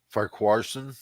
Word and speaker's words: Farquharson: Farquharson, yes.